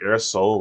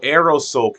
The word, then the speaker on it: aerosol: It's like air soul or air can. I I'm so bad at this stuff. I don't You can hear that the thing in the background. Don't worry about air. Oh, aerosol can.